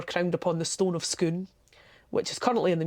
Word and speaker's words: Scone: flat and interesting cake that is not pronounced scone that's pronounced scoon just to confuse the visitors just because yeah I think yeah the kings of Scotland were crowned upon the stone of skoon which is currently in